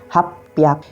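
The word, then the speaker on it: 八百: menggunakan Rocky aku dan untuk 800 kita menggunakan hap pihak yang selanjutnya adalah untuk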